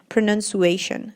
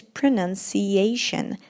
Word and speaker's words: pronunciation: They say pronunciation. It's not pronunciation, it's pronunciation.